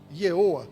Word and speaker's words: YHWH: Hebraico não tem. Então a gente define pelo som, a gente translitera o som. Mas assim, ele mesmo não tem vogal. Como é que se pronuncia isso? O máximo aonde a gente pode chegar é num Yeoa. A gente tem que acrescentar vogais.